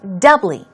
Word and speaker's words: doubly: ee here we go stress goes on the first syllable it's doubly doubly not ee ee ee two syllables and it means to